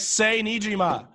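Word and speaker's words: Sae Niijima: I don't know how to pronounce it. It's in Japanese. It's Sei Nijima.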